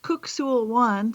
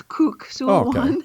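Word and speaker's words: Kuk Sool Won: It's um actually pronounced cookul one for anybody who's out there who practices this that it looks like cuck but it's ku one.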